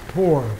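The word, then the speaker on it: πῦρ: says the same thing it's pronounced poor p-o-o-r and they give the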